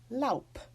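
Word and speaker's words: Lob: like la you be that final B will be pronounced therefore it is lope again I'll just add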